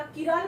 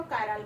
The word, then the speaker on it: chiral: म्हणजे तुम्ही त्याला किराल म्हणू शकता किंवा कायराल म्हणू शकता. मग आता किराल कार्बन मीन्स व्हॉट?